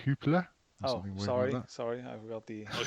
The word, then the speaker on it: Jupiler: Jupiler or some shit? Yeah. I think it's Dutch, so it's going to be pronounced Hoopler.